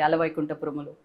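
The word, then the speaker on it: Ala Vaikunthapurramuloo: Ala Vaikuntha Paramalu.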